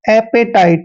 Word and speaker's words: appetite: दोस्तों ए का उच्चारण यहाँ पर हम ए करने वाले हैं, यानी कि ए को ए ही पढ़ते हैं, और डबल पी का उच्चारण हमने पे करना है और ई को ए की मात्रा पढ़ते हैं। टी का उच्चारण यहाँ पर टे करेंगे और आई को आई ही पढ़ना है और टीई को टे पढ़ते हैं।